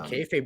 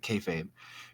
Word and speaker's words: kayfabe: 1950 anymore all right it says originally would have been pronounced as kiel feep and said quickly it sounds like kayfabe use the shorthand term